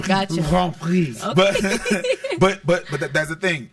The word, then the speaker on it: Grand Prix: I like how you said that. Grand Prix Montreal. That's how you say it. The Grand Prix. Basically, it's the F1. Don't say Grand Prix. No, right? Gotcha. Grand Prix.